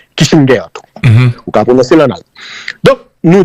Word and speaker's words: Kissinger: défaite de Henry Kisinger alors qu' dit Kissinger tout soit prononcé en américain mais son allemand crié aux États-Unis à 14 ans on dit Kissinger tout Hm hm.